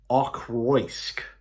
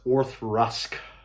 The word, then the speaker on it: Auchroisk: It's spelled like Auchroisk, but it's Auchroisk. And so if I can avoid phonetically saying that, then I think we should be okay. Auchroisk Distillery.